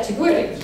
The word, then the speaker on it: chigüire: I want to say chigüire, but it's... Yeah, chigüire.